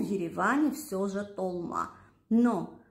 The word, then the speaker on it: толма: Там, где мы говорим «Т», они говорят «Д». Это специфика армянского языка. После геноцида многие армяне переселились, которые выжили, переселились в Восточную Армению. И с того момента они принесли с собой свое произношение слова «толма», «долма». Но так как их не очень много в Армении, то в основном преобладает восточно-армянское произношение «толма». Я выросла в Ереване, поэтому